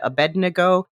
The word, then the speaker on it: Abednego: Shadrach mesak and Abednego it's Abednego Abednego okay anyway thrown into the furnace by Nebuchadnezzar you have to say that word fast or or you're going to mispronounce it that you know